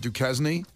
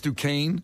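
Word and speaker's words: Duquesne: at this University I want to call it du kzne it's it's duain it doesn't rhyme with Kenny chzn no just it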